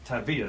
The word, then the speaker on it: Tavia: Tavia though. Yeah, Tavia. Emphasis on the V.